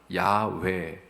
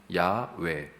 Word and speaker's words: 야훼: 이것일 거야라고 더 추정할 수 있는 하나님의 이름의 발음을 생각해 보니까 야훼, 야훼입니다. 우에다 어이, 야훼.